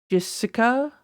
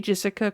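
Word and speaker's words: Jeszka: It's So, it's spelled J E S Z K A C R A F Ts. That's like J Jessica J Jessica Crafts.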